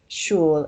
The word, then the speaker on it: je: Now the pronoun from, je, this is sometimes pronounced sh. So instead of saying je verrai, it's probably going to end up sounding like shvere. And instead of saying je vais from her, it's going to end up sounding like shwe. Shteka ho, shui. So we write it with a j, but we pronounce it with a sh.